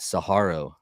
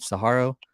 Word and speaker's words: Saguaro: bass kayak winner at saharo right did I say that right hand saharo I don't know I pronounce it Saguaro because it's like the saguaro cactus but right otherwise huge